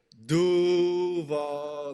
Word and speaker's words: Duval: It's like Duval. Like you gotta like drag it out for real.